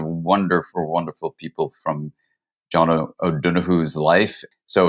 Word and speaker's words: O'Donoghue: You know, my dear friend, John O'Donoghue in America, we call him. Good pronunciation, man.